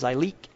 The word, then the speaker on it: Zyleek: So Zyleek, Z-Y''Lick, pronounced Zyleek.